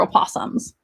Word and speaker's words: opossum: don't really care for opossums i don't know why i think they're awesome their their name literally rhymes with awesome awesome opossum did i